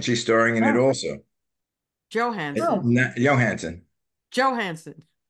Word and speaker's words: Johansson: starring in it also Johansson Johansson Johansson you keep pronouncing Jay's the you know the SP Spanish way it's no it's joh that's how it's Swedish is it Johanson Swedish